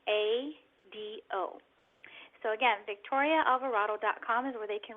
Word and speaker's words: Alvarado: as well ok well my last name is pronounced Alvarado Alvarado and they can reach